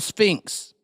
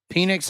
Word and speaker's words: Penix: was his name Michael Sphinx Jr no that's the B no that's not you're just saying his name wrong penix how you want to